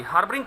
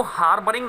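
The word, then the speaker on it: harbouring: देखिएगा, आर के बाद जब कॉन्सोनेंट साउंड होता है और उससे पहले वाउल साउंड होता है तो स्टूडेंट्स आर को हम प्रोनाउंस नहीं करते हैं, राइट। तो इसको हार्बरिंग नहीं बोलेंगे, हार्बरिंग बोलेंगे, राइट।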